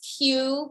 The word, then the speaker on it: Que: okay okay yeah well my name is q pronounced q q-u-e excuse me spell q-u-e um many people know